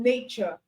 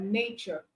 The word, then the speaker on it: nature: As T, you can have words like nature, as future. All right. That's for T, producing the ch sound.